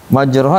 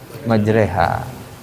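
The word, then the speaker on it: مجراها: W kemudian ada imalah imalah di surah apa Hud Hud ya 41 majroha jadi majreha Bismillahi majreha wa mursaha Kenapa dibaca majreha jawaban paling mudah Oh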